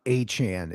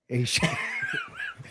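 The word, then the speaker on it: Achane: Wait, then what's Devon Achan? Isn't Devani the running back from Miami? Yeah. Oh, that's Achan. Ashan.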